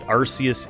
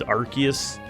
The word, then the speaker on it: Arceus: There's some Pokemon that I still might pronounce wrong, like apparently Arceus is Arceus.